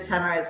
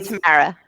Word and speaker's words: Tamara: Tamara, fresh off of speaking at CBA, our express entry expert, and from the nation's capital. I feel like we Another still Twitter butcher extraordinary. Tamara's name.